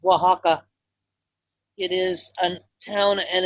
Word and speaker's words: Oaxaca: and Guaymas I believe your cheese would be pronounced Oaxaca it is a town and a region but it's spelled the way you were saying it your cheese's it is Oaxaca anyway god bless you thank you for all